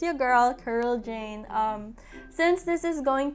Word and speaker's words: Jayne: print this name here this thing is pronounced as jane not janae or jaime or anything it's just jane with a y because it's easier it's